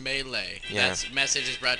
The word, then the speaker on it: Melee: And it's actually pronounced Melee.